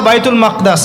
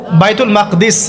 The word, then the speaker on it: বাইতুল মাকদিস: এবার এই বোরাক চলে গেল বাইতুল মাকদাস। এটা কোথায়? বাইতুল মাকদিস, বাইতুল মাকদাস না, বাইতুল মাকদিস।